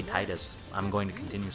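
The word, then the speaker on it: Tidus: Obviously, you've seen Selphie and, I'm gonna get his name wrong to some people and really make some people angry. I say Titus.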